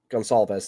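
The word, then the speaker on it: Goncalves: Gonsalves. That's how that's pronounced.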